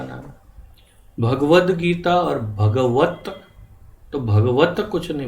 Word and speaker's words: भगवद्गीता: भगवान कृष्ण का नाम भगवद्गीता और भगवत भगवत कुछ नहीं भगवन अधिक भ्रष्ट श्रीमद्भागवत भगवद गीता भगवद गीता भगवत गीता तो यह सामान्य गलतियों में बहुत बड़ा फर्क पड़ता भगवद गीता भगवत भगवत